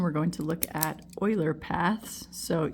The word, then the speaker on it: Euler: going to look at Oiler paths so even though it looks like it's spelled uler um this Swiss mathematician's